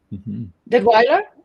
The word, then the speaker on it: Detwiller: I don't know if I'm correctly pronouncing it. Detwiller or Detweiler? Detweiler? Okay, thank you, Greg.